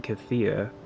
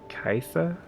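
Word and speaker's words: Caitha: uh yeah katha's chime which i've been pronouncing wrong for a long time apparently i've been saying kathia kathia's chime it's kaitha kaitha's time unless that's a typo the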